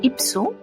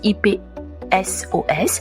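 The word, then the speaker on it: Ipsos: vu que en France selon IPSO, j'espère prononcer bien, c'est IP SOS.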